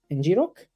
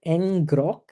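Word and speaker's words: ngrok: didn't work I think NG Rock some people call it NG Gro uh so depends on how you pronounce it excuse me uh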